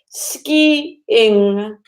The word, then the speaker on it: skiing: really really good to put the emphasis on the last part said on the ing other ways it sounds like the word skin and that is my skin